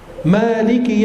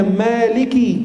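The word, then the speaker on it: Māliki: rohim hanya juga diperjelas Maliki yaumiddin bacanya Maliki Kaf kasrah bukan Malik yaumiddin bacanya Maliki yaumiddin bukan Malik kalau Malik itu sukunnya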